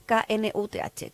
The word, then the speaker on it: Knuth: No puedo pronunciarlo, es muy difícil. Es K-N-U-T-H, Knuth, que es la pareja de su padre.